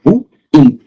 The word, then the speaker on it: ruim: despencam então não é a palavra não é ruim não é uma sílaba só não é monossílaba é Ru in sílaba tônica in mistério isso é importante